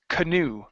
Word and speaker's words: canoe: last one here uh this word is pronounced canoe the the stress is on the end of a word end of the word a canoe paddle a